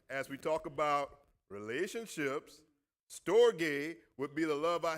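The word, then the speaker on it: storge: This is the way it's pronounced. Everybody can say that. Store what? G- a y. Stogate.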